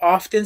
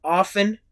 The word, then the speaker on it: often: El adverbio often se puede pronunciar así o se puede pronunciar often. Es correcto de las dos formas.